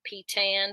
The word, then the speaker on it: Peytan: with you online they can find me at pton on all of the things my name is spelled like pan so it's p YT n um